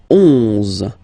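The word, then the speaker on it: onze: 10, 10, okay, then 11, 11, okay, so O plus N give you the sound on, 11, 11, okay, final E doesn't exist phonetically, 11, okay, 12, 12,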